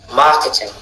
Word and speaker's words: marketing: boutique 2e OK mot marketing marketing marketing alors Quelle est la syllabe accentude ? Première.